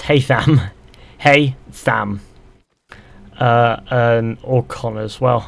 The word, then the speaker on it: Haytham: Hathian, or however you spell it, or Connor? It's Haytham.